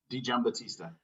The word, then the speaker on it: Digiambattista: Tell me again how to say it correctly. Digiambattista. That's right, not like it reads.